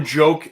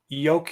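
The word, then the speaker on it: Jokić: that let's go to joke uh sorry yoke yo sorry for the pronunciation jokic and uh the mvp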